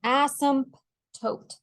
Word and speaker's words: asymptote: K is where the asymptote is asymptote is a funny word a s y m p t o t e as some tote there's a like a silent p in there asymptote the funny word so